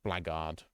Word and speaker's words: blackguard: Oh no, it's just, yeah, it is pronounced Blackguard.